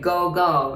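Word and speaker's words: 午後: now pm is google i know it looks like go go right we pronounce it gogo gogo you hear it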